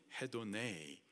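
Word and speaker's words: ἡδονή: 그것이 바로 욕인 거죠이 정욕의 헬라식 발음이 헤도네 뜻은 쾌락입니다 된 어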